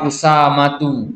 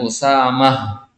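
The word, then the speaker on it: أسامة: Nama orang Usamatu, dipanggilnya Usamah. Seolah-olah ada hak.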